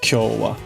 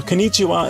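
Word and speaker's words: 今日は: But that's never pronounced konnichiwa. It's always pronounced kyo-wa. Yeah. No, konnichiwa is always in kana. It's weird. You could technically do it, but almost anyone is going to pronounce that kyo-wa.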